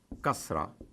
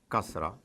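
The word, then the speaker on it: كسرة: I, the equivalent of it in Arabic is kasra, kasra. Now, it is as if I already think that you already know it, the use of zabar. So I put a vowel above ka, and it is kasra.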